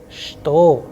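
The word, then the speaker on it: что: please remember the word which means what is pronounced as shto however we start when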